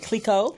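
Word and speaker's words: Clicquot: Is it Clico? Yes. Okay. Clico and shit.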